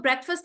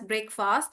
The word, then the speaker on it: breakfast: So breakfast is one. You don't pronounce it as breakfast.